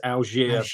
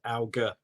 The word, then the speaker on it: Alger: Well, see, I think it's French, and I think it's Algiers, but I'd sound terrible if I said it was that. So I just go with the very London-based Alger, hard G.